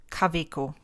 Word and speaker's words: Kaweco: Okay, so what we do is we would say K, V, ko. So one, Kaweco.